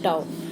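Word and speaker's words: τ: इसको प्रोनाउंस कैसे करते हैं? टाउ।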